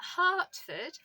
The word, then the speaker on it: Hertford: Well, it turns out that Hartford, and that's spelled Hertford, so the county town